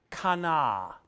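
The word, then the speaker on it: qana: bottom is it okay the Hebrew word is Kana q a and a to show passionate concern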